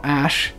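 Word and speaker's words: Æ: bizarre name of ex a sh a 12 and I only know how to pronounce that AE thing ash because I saw Elon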